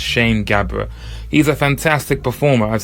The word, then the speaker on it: Sham Gabr: the open mikes because his name is spelt SH a.m. I have been very guilty of introducing him as sham but as you heard yourselves it's pronounced Shane Gabbar he's a fantastic performer